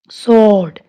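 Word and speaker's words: sword: स्वॉर्ड, स्वॉर्ड नहीं स्वॉर्ड बोलेंगे इसे, डब्ल्यू साइलेंट है।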